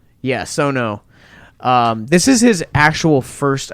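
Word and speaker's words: Sion Sono: Yeah, Sono.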